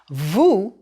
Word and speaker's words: vous: want to show respect it's pronounced with the ooh sound o as in Goose Vu is also you in